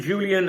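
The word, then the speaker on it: Julián: He's already spoken with friend Julian Aralo. That's how you pronounce his name. I the J is a H.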